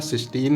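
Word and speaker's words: cystine: इसका भी उच्चारण हमारा सिस्टीन ही है, बट यहाँ पे अगर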